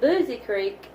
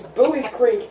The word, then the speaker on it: Buies Creek: going to it for correctly pronounced boobies pretty and if you call it boozy Creek Ethan will freak out because it's like wrong it's Buies Creek that's how it's spelled if you want to